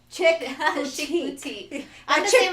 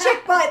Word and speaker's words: Chick Boutique: Eventually I'll correct myself with Chick Boutique. Not chick butt, but it looked like you say it like that.